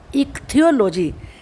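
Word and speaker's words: ichthyology: पहले आई और जो सी एच है वो का पढ़ा जाएगा, और आप जानते हैं टी एच का था बनता है। इक्थियोलॉजी पहले आपको बोलना आना बहुत ज़रूरी है।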